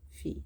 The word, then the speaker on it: fille: Fil, fille, fil, fil. Fil, fil, fil, fil. So, fil. Fille. So, I'm just having a little think. Because when you say ma fille, there's no L sort of sound.